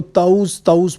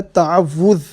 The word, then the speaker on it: تعوذ: تعوذ کو اکثر ہمارے حضرات جو ہیں وہ اس کو تعوذ پڑھتے ہیں، تو یہ اصل میں اس کا تلفظ ہے تعوذ۔ تا کے اوپر زبر، عین کو واو کے ساتھ ملائیں گے تو بنے گا تعوذ۔ اور اعوذ باللہ من